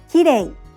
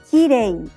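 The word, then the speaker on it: きれい: English native speakers often pronounce it like the R sound in English and say, kirei. You should lightly tap the roof of your mouth with the tongue, but don't roll it.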